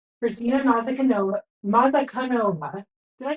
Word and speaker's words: Mazankova: Kristyna Mazankova, did I say that right? How do I pronounce it? Mazankova.